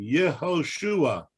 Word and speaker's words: Yehoshua: Why is on Joshua, is it pronounced Yeshua? Yeah. And what? Because that's his Hebrew name, Yehoshua.